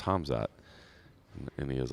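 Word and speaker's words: Khamzat: How do you pronounce it? And I was like, oh, it's Hamzat. And he was like, Kamzat, Hamzat, something like that.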